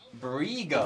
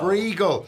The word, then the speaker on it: Briegel: It's pronounced Briegel. Briegel. And now he says it, of course I fucking remember it. The fact that you remember the Mania shenanigans is pretty awesome. I'll eventually burn the pronunciation into your head via Briegel. Like seagull.